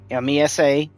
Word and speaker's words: Mesa: Okay, M-E-S-A, meh, not may. Okay, there's no M-A there, it's M-E.